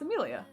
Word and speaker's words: Amelia: i think also because i say my name like emilia it's amelia my name is amelia so it sounds similar enough that i think it